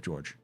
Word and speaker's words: Jorge: Davy ranks yeah he's it's spelled j o r g or Jorge but he calls himself George yeah I have that